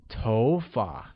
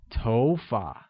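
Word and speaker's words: 头发: tone like go good hair translates as TOFA and carries the mid rising tone on Oh making it TOFA great now let's learn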